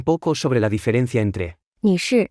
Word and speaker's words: 女士: 女士女士是 Se pronuncia con el cuarto tono. Hablemos un poco sobre la diferencia entre 女士、 y.